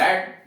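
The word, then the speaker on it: read: Books ये object है तो सब्जेक्ट बनाया, बुक्स, बुक्स के साथ आर, रेड, books are रेड बाय अस। अब वो ऊपर वाले में रीड उच्चारण यहाँ रेड हो जाएगा, books are रेड बाय अस।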